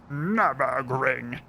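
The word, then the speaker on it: Nürburgring: I think calling it a joke is maybe over-egging it, but it is called, it would be pronounced Nurburgring.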